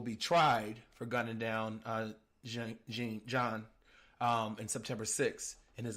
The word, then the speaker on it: Jean: Pronounced John, by the way.